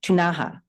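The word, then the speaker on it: Ktunaxa: It's spelled K-T-U-N-A-X-A. I understand it's pronounced, or can be pronounced, Tunaha.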